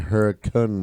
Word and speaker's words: Hurricane: spelled hurricane hurricane hurricane West Virginia but it's pronounced they say in West Virginia Huracan was rigid everyone that I said how many